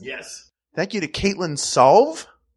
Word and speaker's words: Sauve: Thank you to Caitlin Sauve. I thought it was Suave, but it's spelled S-A-U-V-E. Thank Sauve.